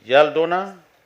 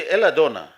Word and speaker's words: Eladona: Yaldona. Is he here? Okay. Oh, please. You should, it should be Eladona.